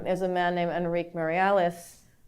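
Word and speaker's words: Meirelles: a man named Henrique Mariales. I pronounced it Moraes because for some reason my Portuguese is very bad. I was corrected last night actually in Berkeley about my pronunciation of his name.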